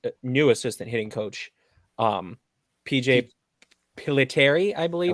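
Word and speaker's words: Pilittere: Okay, maybe that's maybe he's connected with Rocky's new assistant hitting coach, PJ Piliteri, I believe. Piliteri, you got it. Good pronunciation.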